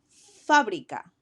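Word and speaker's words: fábrica: word is fabria again the accent goes on the a so I'm going to emphasize that syllable as I read it Fabrica Fabrica in Spanish is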